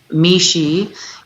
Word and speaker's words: Mishy: Mishy is pronounced me and she, but it's actually spelled Mishy.